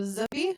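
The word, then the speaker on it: Zuppi: Zappy. Matteo Zuppy.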